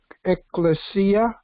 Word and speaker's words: ecclesia: I want to just comment about the word you were talking about, ecclesia. That's the way it's supposed to be pronounced. It's an old Latin word, and it's also when